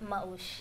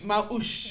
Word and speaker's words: Maush: Maush. Maush.